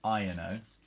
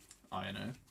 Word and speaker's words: Iono: Iono. Iono. The correct pronunciation.